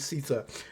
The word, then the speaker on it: Siita: There's no L in Siita. It is not Siita, it is Siita.